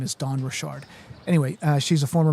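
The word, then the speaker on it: Dawn Richard: kind of some debate this morning about how her name is pronounced Don Richard. Um but when you hear her pronounce it, she says her name is Don Rashard.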